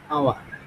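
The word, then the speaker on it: hour: তারপরে H silent হলে, যেমন হচ্ছে আমরা যদি এইচ যদি উচ্চারণ করি এখানে, অ্যান অনেস্ট ম্যান, হ্যাঁ? এরপর হচ্ছে অ্যান আওয়ার, অ্যান অনার, হ্যাঁ?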